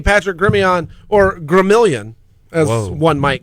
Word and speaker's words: Gremillion: I think the true pronunciation is Gremillion. That would make sense. I've always said Gremillion. Proper French.